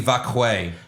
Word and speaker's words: Vaquer: This is what Stephanie told me is how her name's pronounced. Oh, okay. Stephanie Vaquer.